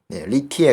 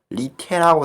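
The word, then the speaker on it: 李铁: 리티에라고 쓰는 언론도 있고 리테라고 쓰는 티에가 아니라 이렇게 리테 이런 식으로 쓰는 언론도 있던데, 근데 중국어를 조금만 아시는 분들은 테보다는 약간 티에 가까워요, 발음이.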